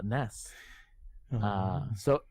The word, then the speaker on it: NES: And with the description, Nintendo themselves say that it's pronounced NESS, NES.